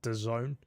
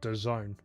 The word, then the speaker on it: DAZN: Yeah, apparently you pronounce it DAZN. I don't know how, from those 4 letters, you pronounce it that way.